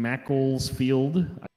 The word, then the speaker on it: Macclesfield: Officers in Macclesfield, that's how you say it, received a report